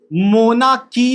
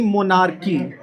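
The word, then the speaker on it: monarchy: मोनाकी नहीं, मोनार्की।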